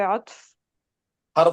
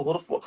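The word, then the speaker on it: حرف: उसमें देखिए जी आयत नंबर 14 से जीजा वाफे हरफ बोलना है जब एक बोले तो हुफ है ना गलत प्रोनाउंसिएशन है जी बेशक सॉरी हरफ या तो हुफ है या तो हरफ है हुफ नहीं है जी हरफ अगेन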